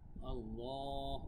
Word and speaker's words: আল্লাহ: দিচ্ছি আল্লাহ শব্দের আগে জবর থাকার কারণে কিন্তু আল্লাহ উচ্চারণটা মোটা হয়েছিলাম ল এবং এখানে আল্লাহ শব্দের আগে